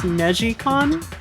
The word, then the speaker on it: NeGcon: It's, I think it's technically pronounced Negicon, because Neji is twist in Japanese, but it's Negcon.